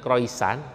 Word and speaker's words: croissant: Croissant. Di sana bilang croissant, dibacanya croissant gitu kan.